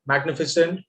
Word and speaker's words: magnificent: However, when GN are together in the middle of the word, please remember both of them are pronounced very clearly. Ignore, magnificent, Okay, there are also combinations